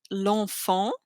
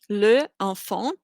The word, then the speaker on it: l'enfant: L'enfant, the child, would actually be le enfant. Le is male. And because you have an E and an E coming together, you cut off the E and you replace it with an apostrophe, l'enfant.